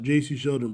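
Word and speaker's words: Jacy Sheldon: It's pronounced J.C. Sheldon, bro.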